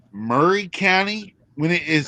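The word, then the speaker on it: Maury County: grew up is a county that is called Murray County when it is spelled Mory County and then we have a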